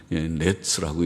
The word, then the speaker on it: gnats: 다 하도 깨끗하게들 잘 사니까 이가 없을 텐데, 그런 이 혹은 각다기, 그런지 각다기, 모기보다 좀 큰 곤충, 영어로는 GNATS, 어떻게 읽는지, 넷스라고 읽는지 GNATS, 각다기, 그렇게 번역들을 하고 있습니다.